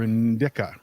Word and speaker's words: Indica: sativa or in or indica in disa Indica that's not my preference that's just how you how you pronounce it um you know honestly